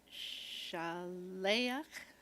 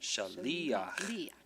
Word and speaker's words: Shaliach: And then Shaleach. Shaliach. Shaliach.